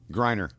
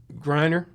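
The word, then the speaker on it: Griner: Grryer. Grryer.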